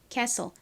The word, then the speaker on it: castle: T 소리를 살려서 스틀. 뭐 이런 식으로 읽으시면 안 됩니다. T는 소리가 나지 않아요.